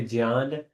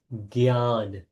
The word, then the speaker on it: Jnana: Some people say Jnana, But that's J is actually pronounced G. So it's Gyan.